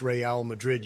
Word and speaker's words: Real Madrid: It's pronounced Real Madrid, you dumbass.